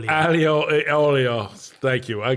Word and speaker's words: aglio e olio: It's ogle aoi, whatever, however it's pronounced. Aglio e olio.